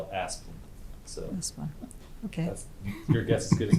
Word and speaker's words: Asplundh: I call it Asplundh. Asplundh. Some people will try to say Asplunda, but I call it Asplundh.